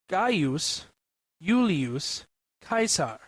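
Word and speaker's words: Gaius Iulius Caesar: In classical Latin it was pronounced ga yulus kaisar. Note that the first name like the second is properly pronounced in three syllables not two.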